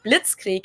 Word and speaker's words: Blitzkrieg: We pronounce it Blitzkrieg in German, and it literally translates to lightning war, because Blitz is lightning and Krieg is war.